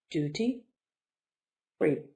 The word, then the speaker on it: duty-free: for you for duty the stress is on the second syllable duty-free duty free goods are